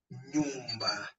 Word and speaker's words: nyumba: So the combination of the letter N and Y is pronounced as one sound, like in the word ni, in the onion, or in the word NY, in the canyon or canon.